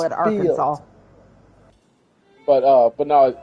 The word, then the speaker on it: Arkansas: And it's like, "No, it's not pronounced how it looks." Call it Arkansas.